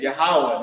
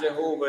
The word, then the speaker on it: Yahawah: those wrong names right the lord's name is yahawah not Jehovah not yahovah not Yahweh right yah uh Jesus Christ